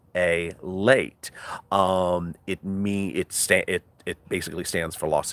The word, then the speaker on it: LALATE: So LALATE is pronounced LALATE.